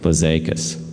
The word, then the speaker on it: Blazakis: Blazakis, right? That's how you say his name.